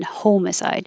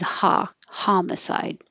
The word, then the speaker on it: homicide: It looks like home, and that is a second possible pronunciation. Homicide. More common is homicide.